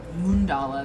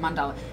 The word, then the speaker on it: mandala: pronunciation uh and mundala she was saying it's a more moon dolla than mandala and and that's coming